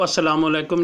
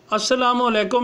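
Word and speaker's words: السلام علیکم: बात लाजिम लिखें कि अलिफ़ के बाद लाम है, लाम साइलेंट है। ये अरबी से चूँकि आया है तो अरबी वर्ड ही है, तो जहाँ पे शद आ जाती है उसका जो पहला वर्ड होता है वो साइलेंट हो जाता है, तो इसलिए लाम लिखा लाजमी जाएगा, पढ़ा नहीं जाएगा।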